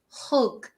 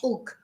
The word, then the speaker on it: hug: an Embrace again remember if you're learning English hug we pronounce the hate not ug hug Embrace and in Spanish